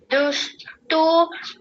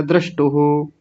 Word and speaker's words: द्रष्टुः: अथ योगानुशासनम् योगश्चित्ते वृत्ति निरोधः तदा दुष्टु स्वरूपे स्वस्थनम्। हाँ ठीक है, बहुत बढ़िया है। मैंने पहले भी बताया था, आप थोड़ा और ध्यान दे करके करेंगे तो हो जाएगा। ये द्रष्टुहु ऐसा बोला जाएगा, द्रष्टुहु।